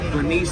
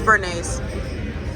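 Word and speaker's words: béarnaise: I put her on to the Bernice sauce. Like, she didn't even know about that. It's Bernays. I put her on you don't know how to pronounce it.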